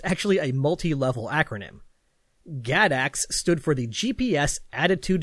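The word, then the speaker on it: GADACS: was an experiment with an acronym that i'm going to pronounce as gadax that's g-a-d-a-c-s and it's pretty great because it's actually a multi-level acronym gadax stood for the gps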